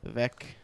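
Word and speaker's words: Veck: I thought they were just like mispronouncing Vic the whole time, but it's Vec with an E. Vec.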